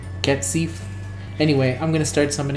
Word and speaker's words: Cat Sith: Someone tell me how to pronounce it. It's Cat Scythe.